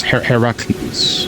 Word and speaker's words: Heracles: And pronunciation is Heracles.